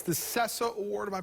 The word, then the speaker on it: Ceca: It's the Ceca Award. Am I pronouncing that correctly? What is it? Ceca. Ceca.